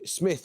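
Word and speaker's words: Psmith: humorist whose Creations include Smith with a silent P idge Uncle Fred Lord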